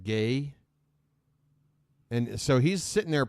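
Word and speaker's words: Gueye: last name was spelled like g-u-e-y-e but it's pronounced gay and so he's sitting there practicing looking at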